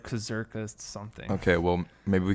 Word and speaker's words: Kurzgesagt: um i don't know how the heck to pronounce that channel's name but it starts with a k it's like kazarkist something okay well maybe we can put it